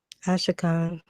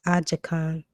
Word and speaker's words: Ashakan: Ashakan, mistranslated as Ajakan, made up the region on north. Yeah, Ajakan. Yeah, the Spanish call it Ajakan, but it's Ashakan.